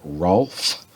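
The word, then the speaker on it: Hrolf: by a guy named Rolf the Walker. It's spelled with, it's H-R-O-L-F, Rolf the Walker.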